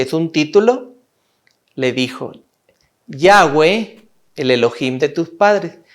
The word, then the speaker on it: Yahweh: se pronunciaba en hebreo Yahweh se pronunciaba en hebreo como una y una a una u y una e yahwe es importante la pronunciación yagüe Este era el nombre